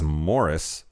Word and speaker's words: Maurice: I believe the generally accepted pronunciation of the book title and character is Morris. I kept saying Maurice because that's how it was fucking spelled.